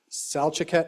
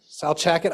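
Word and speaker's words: Salcha: He was born in Fairbanks, grew up at the family's Salet Roadhouse. Did I pronounce that right? Salchet. I was close.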